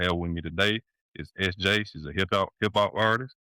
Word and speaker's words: Eszjay: So, uh, my name's SJ obviously, but it's spelled E S Z J A Y, so it's spelled out.